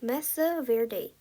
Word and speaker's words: Mesa Verde: Wordwise mea verde is pronounced messa verde.